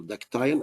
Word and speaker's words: ductile: This is steel is a ductile material, ductile or ductile, as the British they pronounce it.